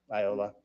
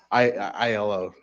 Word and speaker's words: Ilo: So how I explain it to people is it's ILO.